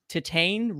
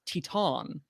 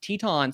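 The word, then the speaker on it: Titane: indy wire uh apparently the pronoun we've been pronouncing uh titan wrong it's teton but obviously like you know we're not french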